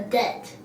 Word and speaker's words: debt: Yeah, I don't pronounce the B at all. So, it is silent for me.